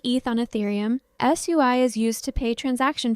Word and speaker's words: SUI: And for SUEI, it's simply called S UI, pronounced SUEI or just SUI, like the chain.